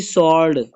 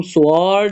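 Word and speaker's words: sword: इसमें है जी सॉर्ड, यहाँ पे जो आपका आर है ना, और इसको हम साइलेंट कर देते होते हैं। जैसे हमारे पास लव्स टीचर, टीचर नहीं पढ़े हम उसको टीचर, यहाँ पे भी जो सॉर्ड है ना, सॉर्ड, इसको हम स्वॉर्ड नहीं पढ़ेंगे, सॉर्ड पढ़ेंगे, सॉर्ड।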